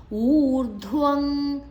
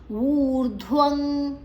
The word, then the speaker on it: ಊರ್ಧ್ವಂ: ಗುಣವೃತ್ತಿ ಅದೋ ಗಚ್ಚಂತಿ ತಾಮಸಾಹ ಊರ್ಧ್ವಂ ಊ ದೀರ್ಘ ಧ್ ಮಹಾಪ್ರಾಣ ಅಲ್ಲಿ ಅಡಿತ್ತು ವ ನಂತರ ಅರ್ಕಾರ ಒತ್ತು ಅರ್ಕಾರ ಒತ್ತನ್ನ ಧ್ವದ ಮೊದಲೇ ತಕೊಳ್ಳುವ ಊರ್ಧ್ವಂ ಅಲ್ಲಿ ನಂತರ ಅನುಸ್ವಾರದ ಉಚ್ಚಾರಣೆ ಮುಂದಿನ ಅಕ್ಷರ ಗ ಇದೆ ಕ ಗಂಗದ ಅರ್ಧಂ